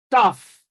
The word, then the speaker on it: tough: And then option B is tough. Well, it's really not tough. Is the given sound is yeah, okay, it's tough. All right. So the letters GH here actually represent the sound F.